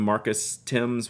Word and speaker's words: Thames: anyone wasn't Marcus wouldn't Marcus Timms was Marcus Thames but spelled like the Thames River Marcus Thames played in